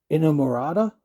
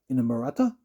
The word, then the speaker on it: Inamorata: And then Inamorata, long, and it sort of rhymes with Inagata Davida, Inamorata.